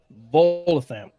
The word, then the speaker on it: Volothamp: He goes, I am Volothamp Getterarm. That's a name. God. Okay, spell it, smart guy. VOLOTHAMP.